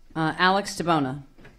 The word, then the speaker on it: Alex DiBona: Alex DiBona. Thank you for your time, and yes, that's actually a perfect pronunciation of my name.